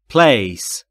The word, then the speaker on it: place: در مورد تلفظ place دوباره P و L بینشون صدا وجود نداره. پس میشه place.